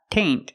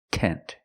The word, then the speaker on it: tent: flower tent and remember it's not taint it's tent use the short e sound tent flower tent example